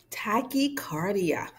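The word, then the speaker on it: tachycardia: Tachicardia. All right. And pronounce that word with me.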